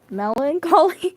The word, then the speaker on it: melancholy: Melon Collie. So it's just melon and collie or malie. So it's basically like broccoli but with a mouth.